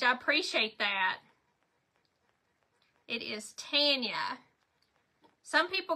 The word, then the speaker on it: Tanya: It says, how do you pronounce your name and how do you spell it? My name is Tanya and it is T-A-N-Y-A, just like yours, only you have an L-A on the front of yours.